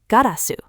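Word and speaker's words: ガラス: From Dutch, glass, in the Edo era, garasu, the glass in your window.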